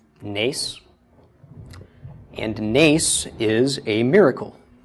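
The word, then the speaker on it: נס: This would be pronounced the N of the nun, A of the tsera, and the S of the samech. So nes, nes.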